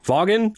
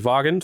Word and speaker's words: Vaughan: We have Vaughan, which I think I was saying vaugh before. I think this is actually um Vogen, I think. So, we're going to pronounce it vagen throughout this adventure.